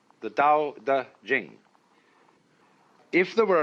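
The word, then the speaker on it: 德: laity to be initiated the next word is duh because again there's no apostrophe after the T so it's pronounced da and Jing there is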